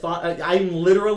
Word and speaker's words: Chthon: Thon. I was literally just looking up like I need a pronunciation guide. Phonic. And then Phonic. The C is silent.